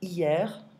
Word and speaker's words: hier: Yesterday, hier. I don't pronounce the H.